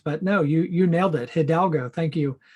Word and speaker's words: Hidalgo: And our guest today is Hidalgo. Josh, how are you? Great to be here. Good. And thanks for pronouncing my last name correctly.